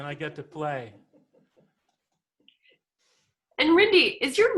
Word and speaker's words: Rinde: It was kind of Americanized as it came over. And so it went from Rinde to Rinde. But my European friends generally use the European pronunciation.